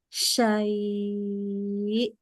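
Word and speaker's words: شيء: kedengaran hamzahnya atau Sain Kalau berhenti di sini dia jadi madlin namanya ya nah jadi bacanya gini syai ya dikuatin ya itu namanya dinaberkan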